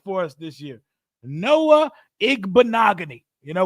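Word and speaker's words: Igbinoghene: IG banagan you know when you say his name the easiest way to do it think of the word mahogany and after you throw the egg out there bogany mahogany it sounds the same Noah IG bogany very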